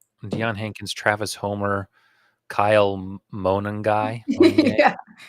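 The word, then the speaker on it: Monangai: So, Deion Henkins, Travis Homer, Kyle Monongy, sounds like Mongolian beef, right?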